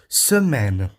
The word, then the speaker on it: semaine: A primeira palavra é a palavra que se pronuncia assim: semaine.